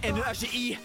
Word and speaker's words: Nagi: En tout cas moi je sais bien prononcer Nagi. N a g I. Son nom c'est Nagi.